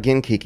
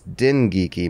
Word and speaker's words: Dengeki: Yeah, no, it's not Genkiki, it's Dengeki.